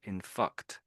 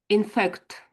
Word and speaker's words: in fact: Inf. This is what it sounds like you're saying. Inf. Mhm. In fact.